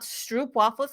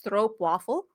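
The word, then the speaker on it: stroopwafel: Uh it's spelled with two O's, so it's not stroop waffles like English speakers say. It's stroppe waffle.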